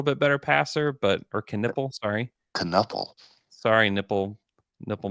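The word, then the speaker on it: Knueppel: can he nipple KH can nipple Khan can nipple yes he can it's spelled k n u p p l which I would thought would be spelled canle or just nle but you watch I'm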